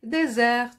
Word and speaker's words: désert: mot desserts comme non ce n'est pas le dessert c'est le désert avec un seul ace et il se termine par une lettre miettes chers élèves pour ne